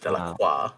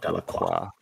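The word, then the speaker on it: Delaque: It's pronounced Delacroix, not Delacroix.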